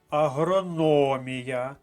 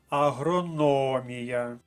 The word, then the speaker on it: агрономія: склад кропива рухаємося далі агрономія наголосна на третьому складі третя колонка агрономія русло другий склад друга